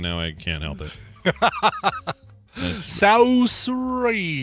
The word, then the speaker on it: Saoirse: Saoirse. Rhymes with inertia.